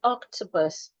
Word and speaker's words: octopus: So for example, the word octopus, the word has 3 syllables. So it has oc, it has t, and it has pus, 3 syllables.